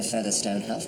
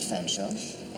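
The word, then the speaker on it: Featherstonehaugh: was leaving River cour rowa feather Stone pronounced FW did she say what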